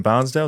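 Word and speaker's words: Bairnsdale: And uh he's got a boat down in Barnesdale. Is that how you say it? Benale Benale.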